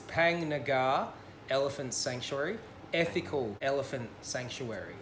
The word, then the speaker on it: Phang Nga: I was editing I said the park name wrong it's not Fang name it's pang Nagar elephant sanctuary ethical elephant